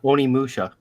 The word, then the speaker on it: Onimusha: I said Onimushu. Onimusha.